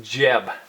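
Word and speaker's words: Geb: earth God reclining down here his name is Jeb je B and from Jeb and Newt had children they had four children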